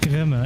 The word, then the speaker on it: Grimme: is it Grim or Grimy? It's Grimme, actually, yes.